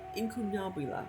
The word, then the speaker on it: incunabula: word that word means I still don't know how to pronounce it in inula yeah I think that's it I think it's Latin incunabula it was a lonely and